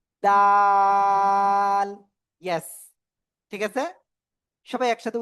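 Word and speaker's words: دال: এই যে দাল অক্ষরটা কোন জায়গাতে উচ্চারিত হবে? জিহ্বার আগা সামনের উপরে দুই দাঁতের গোড়ায় লাগিয়া। ডাল।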